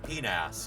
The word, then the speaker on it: PNAS: We all call it penas because it's PNAS proceedings of the National Academy of Sciences.